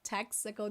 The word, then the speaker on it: Texaco: thank you for calling we don't say te chaco the in portuguese we say tactical in english texaco did you guys know this pronunciation texaco texaco so thank you